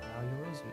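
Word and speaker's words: 八百万: It's written as 8 million and pronounced Yao yorozu.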